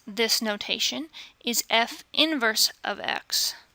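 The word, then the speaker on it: f⁻¹(x): pronounce this notation is f inverse of X notice that this little negative one up here is not an exponent it is not to be read f to the negative one exponent and that is not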